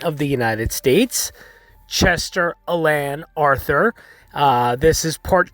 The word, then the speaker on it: Alan: uh mispronounced his middle name it was actually pronounced chester alain arthur no it's not chester allen it's not chester alan it's chester alain alain so that is the